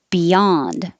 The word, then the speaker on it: beyond: confuse you unknown unknown beyond you can use be or ba because it's not stressed beyond maybe a bit